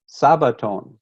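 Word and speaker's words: σάββατον: Greek word Sabbath is Sabaton because the Greeks don't have a Sh they only pronounce the S so Shabbat is Sabaton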